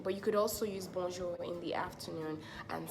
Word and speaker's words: bonjour: could just use different intonations but then it's Bonjour let's pronounce it together bomb jew-bomb sure it has